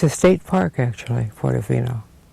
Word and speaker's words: Portofino: Port, and then a big O with a dash in between, and Fino.